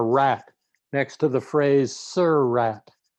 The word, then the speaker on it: Surratt: picture of a rat next to the phrase "Sir Rat." It's a graphic illustration of the proper pronunciation of the surname of two of the